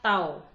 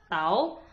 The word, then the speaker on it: tau: Ini dibaca tau. Jadi bacaannya adalah tau atau bisa dibaca torsi ya. Jadi bacaannya adalah tau atau torsi.